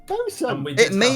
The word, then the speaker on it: bosun: spelled boatswain, but it's bosun.